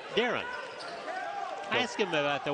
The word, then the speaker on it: Darian: The Bulldogs head coach spells his name D-A-R-I-A-N, but he pronounces it Darren.